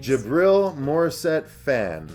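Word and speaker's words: Djibril Morissette-Phan: It's Jabril Morissette Fan. That's with a silent D at the beginning of it.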